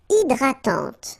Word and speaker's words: hydratante: Une crème hydratante. So remember, H is not existing, and then this Y is pronounced like E. Hydratante. Okay, don't insist on the final E, and this is nasal.